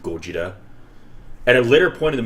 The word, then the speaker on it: Gojira: Like, just that scene when he says, and Ken Watanabe was adamant that he, as a Japanese man, needs to pronounce it Gojira.